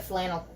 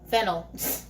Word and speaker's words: fennel: It looks like flannel, not flannel. Flannel? How's it pronounced? Fennel.